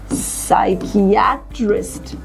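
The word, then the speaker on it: psychiatrist: help us right so साइकेट्रिस्ट so again we have kept the sound of letter P silent because a this word begins with the combination of letter P एंड एस yes excellent I really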